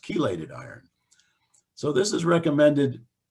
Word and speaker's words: chelated: a t d I used to call it chelated iron till everyone corrected me and say no Jeff it's pronounced chelated iron so this is recommended um in late